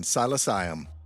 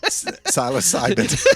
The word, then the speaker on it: psilocybin: Psilocyum. What? Psilocyum. But it's also pronounced psilocyum. Psilocybin. Psilocybin.